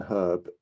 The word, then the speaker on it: herb: this to you but the letter h in herb is not silent number three the letter